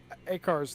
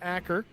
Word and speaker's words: Akar: Well, I wish I was reading chat earlier because I've been pronouncing Akar's name wrong. I've been calling him Aker. It's Akar.